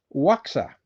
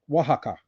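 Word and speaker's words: Oaxaca: Hello from Waka. Oh, Wajaka.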